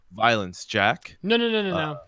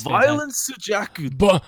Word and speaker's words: Violence Jack: this previous week is Violence Jack. No. Oh, You what? said it. You said it wrong. You say it with your best Japanese accent. It's like it's Violence Jaku.